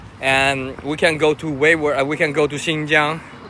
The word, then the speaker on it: Uyghur: Uyghur is not Uyghur, it's Uyghur. Okay, the G doesn't pronounce.